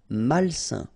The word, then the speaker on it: malsain: A-I-N together, it's a nasal and it's un. Malsain.